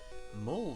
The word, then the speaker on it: mole: Mole sauce? What sort of a sauce is that? Is it made from moles? It's pronounced mole.